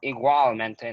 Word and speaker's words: igualmente: It's not igualmente, no, it's igualmente.